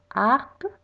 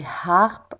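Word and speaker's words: harpe: Harp, I don't say harp, I say harp. So the H is silent.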